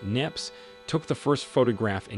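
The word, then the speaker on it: Niépce: smartphones when Joseph mccafford neopsy pronounced nips took the first photograph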